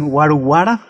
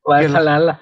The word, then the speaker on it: Valhalla: atención es de que les cuesta mucho trabajo decir Valhalla. Lo pronuncian en algunos episodios, dicen Waruwara, el palacio de Valaya, el. Valhalla.